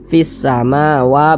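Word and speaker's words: في السماوات: tidak ada tanda bacanya jadi cara membacanya itu dari V Ini dari V langsung masuk ke huruf Sin ini fisamawa begitu Jadi huruf lamnya ini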